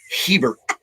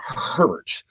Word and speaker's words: Hebert: Ronald Hebert, not Herbert, by the way.